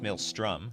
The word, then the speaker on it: Maelstrom: No, it's Maelstrom. I'm like, have I been mispronouncing Maelstrom the entire time?